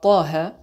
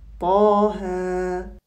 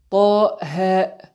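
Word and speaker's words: طه: premier verset de sourate Taha, je le lis de la façon suivante. Taha. Et je ne le lis pas Taha, car ce sont des lettres qui se prononcent avec une lettre de prolongation finale.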